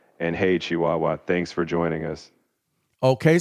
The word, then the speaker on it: Chihuahua: How do you pronounce that, Apollo? That's Chihuahua. And hey, Chihuahua, thanks for joining us.